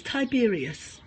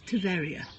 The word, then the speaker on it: טבריה: This is Tiberias. If you're over here, it's known as Tveria. The B and the V often get changed over, and the pronunciation gets changed a bit.